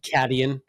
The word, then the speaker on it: Caitian: It's Caitian, which I want to say is Acadian, but they probably pronounce it Cadian.